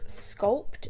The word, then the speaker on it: Sculpd: They're called Sculpt. It's spelt like SCULPD.